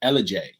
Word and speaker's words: Ellijay: Ellijay. Like Elijah, or how do you spell it?